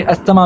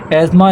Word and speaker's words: asthma: एज़मा पढ़ने में आप इसे अस्थमा भी पढ़ सकते हैं, लेकिन जो करेक्ट प्रोनाउंसिएशन है वो एज़मा ऐसे प्रोनाउंस किया जाता है।